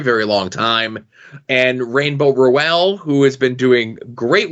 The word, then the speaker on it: Rowell: I'm the Rainbow, how do you pronounce her last name so I don't get it wrong? Rowell.